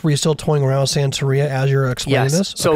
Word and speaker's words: Santería: say it right before my wife yells me Santeria okay yeah um but and then I that's